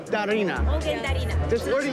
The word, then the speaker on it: Darina: Darina.